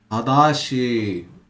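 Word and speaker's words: 正しい: Tadashi. Right, it can be pronounced tada.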